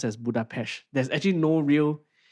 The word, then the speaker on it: Budapest: So that's why the the Hungarian name Budapest is pronounced as Budapest. There's actually no real H in it. It's just the Hungarian S sound which English speakers usually hear as sh.